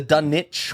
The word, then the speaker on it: Dunwich: that is apparently the Dunwich Horror. It is it is right. from the UK. It is the silent W sound, but everyone in this movie gives it the W naming convention.